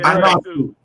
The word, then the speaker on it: Ionescu: Sabrina Ionescu, how you pronounce her last name? Yeah, the girl. Ionescu.